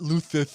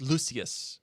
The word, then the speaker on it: Lucius: governors yes fine lucious fine not luther it's lucius okay uh it's one